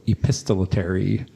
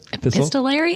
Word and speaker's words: epistolary: They aren't also epistolary. Mm-hmm. How do you say that? Epistolary? Epistolary. They are epistolary. You're putting an extra syllable in there.